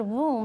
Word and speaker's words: womb: the uterus is womb I like the word womb because it rhymes with the word rule it's a room